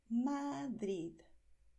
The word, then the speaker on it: Madrid: Puedes pronunciar Madrid y ya está, con una D final, Madrid.